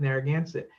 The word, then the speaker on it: Narragansett: really matter so much but the pronunciation and we decided to go with narragansett as it's spelled today and the reason is